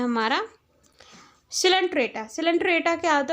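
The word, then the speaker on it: Coelenterata: Second phylum है हमारा सिलेंट्रेटा। सिलेंट्रेटा क्या होता है, उसके पास निडेरियन, तो निडेरिया भी बोलते हैं, सिलेंट्रेटा को हम निडेरियन भी बोलते हैं। सी हमारा साइलेंट होता है इसमें।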